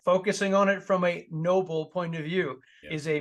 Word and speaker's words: Noble: to my website is Noble automation now and Noble is spelled n-o-b-l-e not Nobel like the Nobel Prize I hope most people